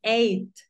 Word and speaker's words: eight: Acuérdate que la GH no suena. Tú dices eight. Eight.